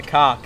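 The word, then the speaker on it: kok: This is the scientific name for this is called a cock. It's spelled K-O-K.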